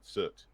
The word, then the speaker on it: Surt: Surt. It's spelled cert, but they pronounce it soot Soot.